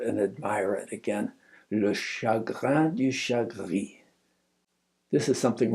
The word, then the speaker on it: chagrin: I turned and I wrote Le chagrin du chagrin. You have to pronounce it in your throat as if that R is as if you're gargling salt water to help your cold or your sore throat.